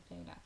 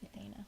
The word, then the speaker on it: Ethana: Ethana. It's like Ethan, but like a girl version. Ethana, yeah.